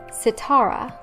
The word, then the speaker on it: Sitara: 14 on this list it is the name sitara earlier i said the name satera so they're